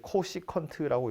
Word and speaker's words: 코시컨트: 건 csc라고 써 있죠 이거 이제 읽을 때 코시컨트라고 읽어요 코시컨트 세타고요 코사인 분의 1은 시컨트예요